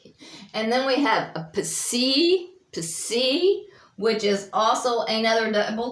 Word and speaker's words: psi: And it makes like a PS sound, like the English word lips. So it'd be psi.